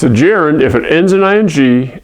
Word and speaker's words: gerund: see it you wonder how am I supposed to pronounce that gah gerund garuda no gerund that's one of the